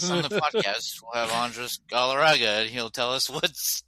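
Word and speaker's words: Andrés Galarraga: Andres Galarraga, that's right.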